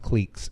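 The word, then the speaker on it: clique: of teenagers from different cleaks who Bond during a Saturday detention what's a cleck a click click it's pronounced click though yes FYI for those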